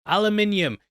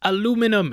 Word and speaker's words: aluminium: Aluminium. You better not be writing it's pronounced aluminum in the comments, I'll bloody get you.